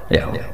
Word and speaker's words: Yahweh: Ya paham ya, Tuhan Yahudi tunggal niku Yahweh, napa? Yahweh. Iku nak teng ejaan Latin Y besar A H besar W E H besar Yahweh.